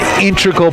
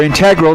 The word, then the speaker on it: integral: And you know, Crup has been an integral part of or integral, depending on how you pronounce it, part of of this sailor's uh team for the last 3 years.